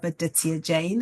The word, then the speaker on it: Aditya Jain: Well, today I'm delighted to have a fantastic, inspiring guest on the podcast by the name of Aditia Jane. Aditia, I hope that's the correct pronunciation of your name.